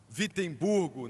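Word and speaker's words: Wittenberg: Na verdade, começa com um W, mas se pronuncia com V, Vittburgo, na Alemanha, e pregou as suas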